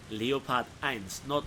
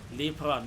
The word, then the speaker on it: Leopard: And yeah, this is how in German you pronounce that tank's name. Leopard 1, not Lepra, not Leopard, not anything like this fake British pronunciation. He sees that there is